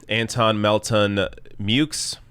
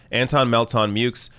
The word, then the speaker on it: Antone Melton-Meaux: here ilhan omar defeated anton melton mukes which i thought was going to be pronounced mo or myo but apparently you pronounce the x anton melton mukes 57.44 percent to uh